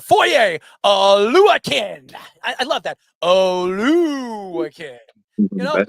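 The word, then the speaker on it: Oluokun: Oluwakin.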